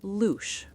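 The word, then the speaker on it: louche: This phenomenon is known as the luch, pronounced luch.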